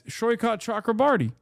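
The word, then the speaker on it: Saikat Chakrabarti: It's Shoykot, isn't it? Yeah, it's Shoykot Chakraborty.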